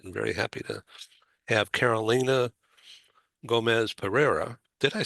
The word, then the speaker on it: Carolina Gomez Pereira: I'm very happy to have Carolina Gomez Pereira.